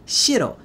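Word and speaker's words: 城: One can really see how different the Chinese term for city, cheng, is from the Japanese conception of that same term, pronounced shiro, meaning castle or castle town.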